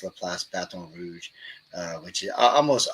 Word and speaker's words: LaPlace: I catch it, because everything in New Orleans is pretty much French pronounced. All of our cities, like Laplace, that's why we call it Laplace.